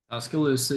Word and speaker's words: Tuscaloosa: Number 11, Texas goes on the road to Tuscaloosa. Did I pronounce that correctly? Tuscaloosa, yeah.